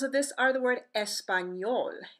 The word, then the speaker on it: español: letter in yay M yay in Spanish is similar to the sound of the n Y in our English word Canyon examples of this are the word español español which means Spanish yo